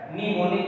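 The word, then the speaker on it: mnemonic: थी, इनको बोलते थे न्यूमोनिक कोड्स। ये एम साइलेंट होता है, न्यूमोनिक पढ़ते हैं इसको, इसमें एम जो है ये साइलेंट है, तो न्यूमोनिक कोड्स होते थे।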